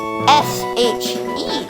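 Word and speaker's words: Shee: S-H-E. I try to hold back laughter, amused by your pronunciation. Okay, calm down. It's pronounced she, not she.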